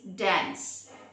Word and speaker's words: dance: ഇറ്റ്സ് നോട്ട് pronounced like that or articulated like that in English. It is dance.